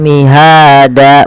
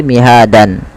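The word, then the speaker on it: مهادا: kita contoh di sini dan ketika ada dan di akhir bacaan itu dirubah menjadi panjang danya maka Maka mihada bukan lagi mihadan ya mihada.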